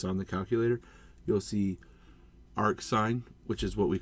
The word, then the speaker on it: arcsin: You pronounce it arcsine, arc cosine, and arc tangent.